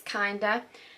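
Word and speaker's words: KNDR: Inside the treasure trove of beauty gems, you'll discover it's spelled K-N-D-R, I think it's Kinder, the Kinder's Kind Bronzer.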